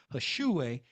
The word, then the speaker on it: Hish'uwe: Hashue is spelled HISH apostrophe UWE.